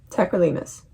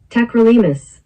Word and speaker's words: tacrolimus: Tacrolimus? Is that how you pronounce it? Tacrolimus. Tacrolimus. I was right.